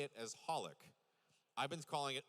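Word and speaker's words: xxxHOLiC: X's because Hunter Hunter also the X is silent. So, it's called, you say it as Hollik. I've been calling it XXX Hollik this whole time.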